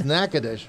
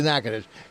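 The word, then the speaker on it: Nacogdoches: raised in nacadish Louisiana see I I said it right it's it's nacadish it's spelled nachoes but it's it's really nackadish go figure and he invented something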